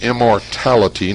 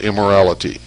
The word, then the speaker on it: immortality: It's immortality, not immorality. Immortality.